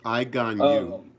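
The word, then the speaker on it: Aganju: I forget how to pronounce the name. Iganyu.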